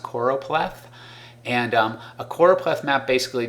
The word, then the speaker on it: choropleth: is a choropleth map that's pronounced choropleth and a choropleth map